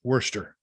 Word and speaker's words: Worcester: It's pronounced Worcester.